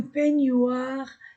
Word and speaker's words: peignoir: Ce visage que vous voyez dans la glace, cette tête qui sort d'un peignoir, c'est pierre.